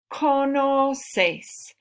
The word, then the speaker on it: conoces: Conoces. Here you have both sounds. Conoces. K, s, conoces.